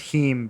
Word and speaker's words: heme: bleed different colors I only know that it's pronounced heme because of all the impossible burger videos I've